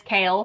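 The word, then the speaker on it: Chaol: I'm probably going to call him Cole a couple times cuz I called him Cole for a really long time and then someone corrected me and it is Kale.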